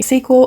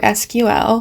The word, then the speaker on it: SQL: heck is sequel actually sequel or SQL you can pronounce it either way is short for a